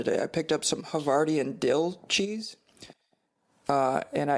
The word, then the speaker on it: Havarti: Yeah, Havarti. Harvarti.